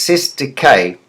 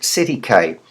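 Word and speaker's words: cestui que: court now C trust a Cay trust is properly pronounced C deay but lawyers po popularly pronounce it CK from old French it's an old-fashioned expression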